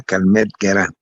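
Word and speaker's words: Calmette-Guérin: No, con su pronunciación no me importa. Biliada Calmette-Guerin.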